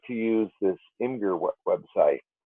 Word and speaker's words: Imgur: But I do like to use this Imgur website. Imager, my kids tell me it's pronounced, and I have not been using it for a lot of years.